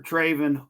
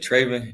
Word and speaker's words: Trevin: Trevin. Goodness. Welcome into the show, man. How you doing? I'm doing good. And you said Trevin. It's Trevin. Trevin.